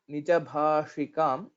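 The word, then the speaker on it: निजभाषिकम्: Pronouncing shakara, Nijabhashikam. So you don't have to put so much of effort there. Like shakara will be the murdhanya shakara, similar to ta, tha, da, dha, na.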